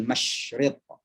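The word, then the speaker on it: مشرق: Walillahil masyriq. Sya. Ya. Ini kadang ada orang Indonesia kalau bahasa Inggris bagus menyebutkan sya. I'm shy, saya malu. Tapi kalau baca Al-Quran, bacanya walillahil masyriq.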